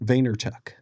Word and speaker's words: Vaynerchuk: So how do you pronounce his last name? Vaynerchuk.